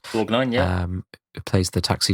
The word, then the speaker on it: Borgnine: We've got Kurt Russell leading, Lee Van Cleef of the Dollars trilogy fame, Ernest Borgnine, I think is pronounced. Borgnine, yeah.